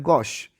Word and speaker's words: gauche: that we have today is none other than gosh you know word liquor g a u c